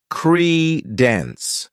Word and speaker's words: credence: next noun is Credence this word has two syllables and the stress is on the first syllable Creed Den what it means is